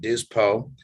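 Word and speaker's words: Dispot: so we pronounce it dyspo uh their t is silent like you know we're french or something yep and uh and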